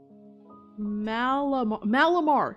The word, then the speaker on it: Malamar: Oh gosh, I can never pronounce that name. Malamar.